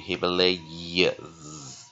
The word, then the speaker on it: Himalayas: syllable，哈，close，哈，Himalay。lay 好，所以是什么？这边是怎样？open 啊、哦，这样在弱母音 Himalayas 啊，这是有声变啊，无声变有声啊，所以这样看起来你们就了解哈，什么叫做 close syllable，什么叫做 open syllable 啊？close syllable 就是说在